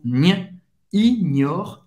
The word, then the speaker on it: n'ignore: Seigneur n'ignore, não é ignore, é ignore, GN. Mais uma vez, você vai fazer esse som n, ignore, n'ignore rien, ignora nada da sua vida. Le Seigneur n'ignore rien de ta vie.